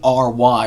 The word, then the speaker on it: Drury: Corinne Drury is Drewery. Rhymes with brewery and jewelry.